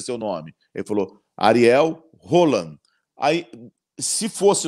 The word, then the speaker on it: Ariel Holan: seu nome ele falou Ariel rolan ai se fosse o normal era o Lana porque o H em espanhol ele não tem som de nada ele não é igual